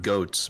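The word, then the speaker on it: Goetz: t cut off there's a town called goats but it's spelled g-o-e-t-z ah goets we have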